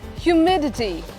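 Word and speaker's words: humidity: ह्यूमिडिटी the word is ह्यूमिडिटी।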